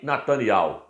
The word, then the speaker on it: Netanyahu: Muitos falam Yahu no final. O nosso presidente Jair Messias Bolsonaro pronuncia corretamente. Ele fala Benjamin Netanyahu. Ele pronuncia corretamente.